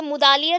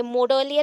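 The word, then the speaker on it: Mudaliar: मुदालियर, एल एस मुदालियर, ये मुदालियर होगा, ठीक है, स्पेलिंग थोड़ा सा रॉन्ग रहता है यहाँ पे, मुदालियर, ये मोडलियर हो गया, ये मुदालियर होगा, ठीक है।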